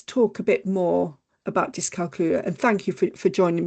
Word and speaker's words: dyscalculia: So a really good way to sort of try and remember how to say it is it rhymes with Julia, dyscalculia.